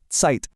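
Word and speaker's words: Zeit: It is always a sharp t sound. Think of the end of the word cats or the sound in the middle of pizza.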